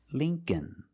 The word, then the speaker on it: Lincoln: The dictionary shows it as a short I, the sound I, like thin. But it's the long E. It's Lee, Link, Lincoln, Lincoln. The second L is silent, so it's Lincoln, Lincoln.